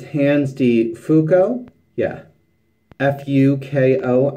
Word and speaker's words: Fuko: deep fook oh yeah Fu K oh I'm going with Fuko as opposed to another pronunciation and it's smear cream